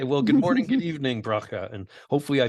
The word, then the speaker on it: Bracha: start again okay well good morning good evening broca and hopefully I pronounced your name correctly yes you did terrific